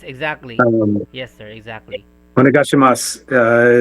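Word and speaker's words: お願いします: Onegashimasu is one, and it has a U at the end, but you don't pronounce the U.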